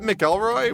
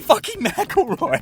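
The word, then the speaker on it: McIlroy: speaking of nerds I don't know how to pronounce this man's name is it melroy what no it's Rory mroy mroy Rory maoy Ronnie macaroni is a golf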